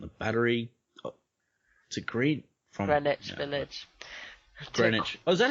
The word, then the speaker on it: Greenwich: Greenwich. Oh, is that how you pronounce it?